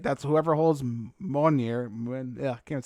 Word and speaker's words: Mjolnir: That's whoever holds Mjolnir. Yeah, I can't say the name of it. The hammer, you know? Adam's like, yeah, Mjolnir, right? It's Mjolnir.